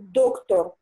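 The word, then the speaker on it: doktor: І доктор. Доктор. Доктор на передостанній.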